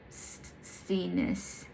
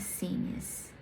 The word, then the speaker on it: Scenius: What I love about this idea of Scenius is spelled Scenius, so I think it's called Scenius. Let's just can it speak? Scenius. My computer told me it's Scenius. Is that make room in